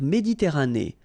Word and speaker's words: Méditerranée: La mer Méditerranée. Okay, here final not pronounced, but then you pronounce this E at the end.